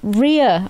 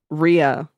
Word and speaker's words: Rhea: is it e oh Ria I would pronounce that as Ria r right oh like diarrhea like diarrhea yeah so she's she's